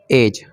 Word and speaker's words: edge: हैं किनारा होता है, तो EDGE, तो यहाँ पर जी से पहले देखिए डी आया है तो यहाँ पर डी को साइलेंट रखेंगे, तो यहाँ पर हो जाएगा एज।